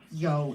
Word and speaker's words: you: may and yo, and only because yo is spelled Y-O-U, and I just thought it was too confusing to not flag it because you would just read it as English you, and so that's the